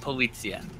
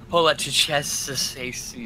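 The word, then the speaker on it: poliziotteschi: Anyway, it's not Polizia. It's Polizieschi.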